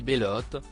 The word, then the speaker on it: Belotte: et celle que l'on surnomme belotte prononcé Bellotte dérivé de belle ont tue de de